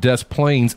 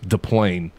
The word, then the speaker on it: Des Plaines: For those that don't know, it's not Des Plaines, Illinois. It's DePlain. DePlain? Illinois. Like the S plane, is silent. DePlain is crashing?